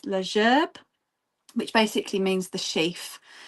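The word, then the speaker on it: La Gerbe: So, this piece here is called uh I'm going to try and pronounce it in French, leerb, which basically means the sheath um or a bouquet.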